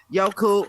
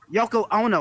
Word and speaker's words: Yoko Ono: And shout out to everybody that's here, man, from Brady Baby to Miss Yoku. I'm saying it right, Miss Yoku? Miss Yoku, no? Ono. Yoko Ono, I'm sorry.